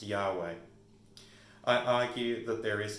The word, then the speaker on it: Yahweh: which is yhwh and we honestly do not know the vowels that go in with those consonants in hebrew but it's often pronounced yahweh i argue that there